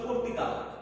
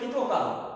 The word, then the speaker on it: কর্তৃকারক: বিশেষ করে কর্তৃকারক, অনেকে বলে কৃতকারক, আসলে কিন্তু বানানের কারণে এই উচ্চারণে ত্রুটি থেকে যায়।